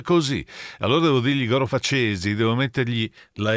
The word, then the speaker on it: Facesi: Cesi, c'è l'accento sulla E, devi dire Facesi, faccia da coccodrillo.